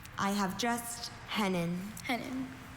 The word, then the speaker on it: hennin: Are there any alter pronunciations? I have just hennen. Hennin.